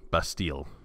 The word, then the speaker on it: Bastille: the lost best deal that's a French word isn't it bestie like am i pronouncing that right Bastille well I can google that too God knows I'm gonna yes that was correct Bastille like a metallic sheep Bastille hmm this reminds